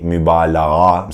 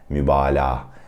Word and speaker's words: mübalağa: Don't tend to say mübalağa. Some Turkish learners try to pronounce that soft G, but you would just say mübalağa. You would just make it a long ah sound, okay, mübalağa.